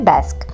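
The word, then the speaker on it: Gdańsk: তো যেটা বলছিলাম দেখো নামটা হচ্ছে জিডিএ এস কে মানে পোল্যান্ডের শহরটার নাম বাট উচ্চারণ হয় ডাস্ক তো তারপরে আমরা হচ্ছে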